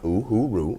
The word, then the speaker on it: Uhuru: And Uhuru is it's pronounced Uhuru, and it's a Swahili term for freedom. Okay, Uhuru.